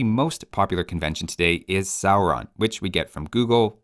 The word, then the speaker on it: Sauron: has the value of the English ow in town that's the first vowel of Sauron is like the English sour not sore that seems like pretty